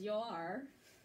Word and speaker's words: Joar: And then he just had a son this summer, whose name is Joar, just like 2 syllables kind of drown out.